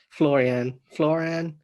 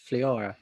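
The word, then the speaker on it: Flyora: Florian, he has his hair cut with Florian. It's your favourite film and you can't pronounce his name. Fliora, yeah.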